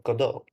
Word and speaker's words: Godot: or Godot. Yes, that's how it is pronounced.